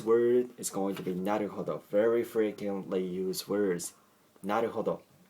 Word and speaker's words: なるほど: So actually this case is very similar to in English pronouncing the word what or when, even though H is in it, okay, H is very slightly pronounced, right? So what sounds weird, right? So what? So the same case, okay, the same thing is applied to this word.